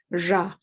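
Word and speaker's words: ར: But you will probably hear it mainly as ra, which is a little bit maybe like the Czech ra that has a hashek on it. Anyway, it's a little bit almost between an R and a J sound that you'll typically find people pronouncing it.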